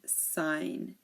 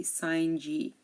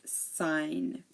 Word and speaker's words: sign: design foreign R and sign so here the g is silent we don't pronounce the G we don't say the G we don't say forign G we don't say sign G campaign design forign Ry